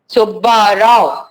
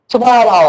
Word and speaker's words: सुब्बा राव: सुब्बा राव, अगर ये निकाल दिए तो वो सुबह राव होगा, सुबह राव शब्द प्रोनाउंसिएशन भी गलत आएगा, सुब्बा राव, सुब्बा राव।